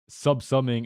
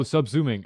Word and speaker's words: subsuming: It's not sub-summing. It's subsuming? No. Dude, how do you say it? Oh, subsuming. Okay.